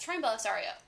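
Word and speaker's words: Troian Bellisario: Oh, sorry, Troy and Bellisario? Yeah, it's Troy and Bellisario. My bad. I know her name, I said it wrong.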